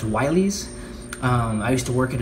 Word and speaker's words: Willys: The 42 Willys MB Jeep. Now, I've heard from Jeep enthusiasts that's actually pronounced Wileys.